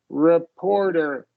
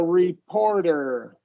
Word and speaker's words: reporter: said I think a reporter so yeah the second syllable gets the stress reporter yeah yeah it can